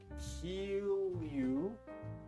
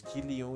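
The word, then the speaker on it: Kilju: So, Marata couldn't buy the kill you. Is this the way to write kill you? K I L J U. Right. That nobody taught me the pronunciation was Kio.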